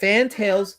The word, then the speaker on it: Fantales: Fantales. With the A in fan and the E in tail. With a slight emphasis on the first syllable.